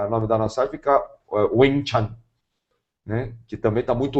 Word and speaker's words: Ving Tsun: ele pode pronunciar perfeit ele vai falar wichan que tá muito longe do som de wichan e é interessante que